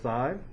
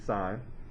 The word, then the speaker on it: sin: cos for cosine for sine that's abbreviated as sin that is not sin that's supposed to be sine and for tangent this